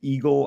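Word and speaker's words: Igle: I didn't, like I said, right now I'm learning that his last name is pronounced Eagle.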